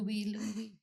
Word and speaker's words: LUIH: I have a lot of people asking now how do you pronounce this? Lou guys. So it's Louis. Okay. Lou Louie.